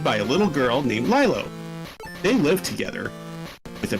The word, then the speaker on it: Lilo: The coincidence, Stitch, adopted by a little girl named Lilo. They lived together with a peaceful life. Then the female commander of interplanetary headquarters sent the strongest soldier caught Lilo away and threatened Stitch to surrender.